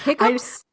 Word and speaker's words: hiccoughs: I hiccups? I say hiccups, but it's spelled hiccoughs, right?